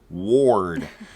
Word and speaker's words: Wardh: So it was just Ward with no H.